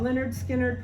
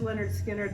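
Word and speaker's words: Lynyrd Skynyrd: okay now we've got leonard skinner pronounced leonard skynyrd live this is on red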